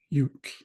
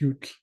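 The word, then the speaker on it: yutl: And the word that we looked at as an example is ute.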